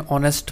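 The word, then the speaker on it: honest: एन लगा उसके साथ, तो एच की तो वहाँ पे आवाज़ ही नहीं आई, वहाँ पे ऑनेस्ट ऐसा लगा कि जैसे एच साइलेंट हो गया, तो इसलिए हम एन लगा रहे हैं ऑनेस्ट पर्सन के साथ।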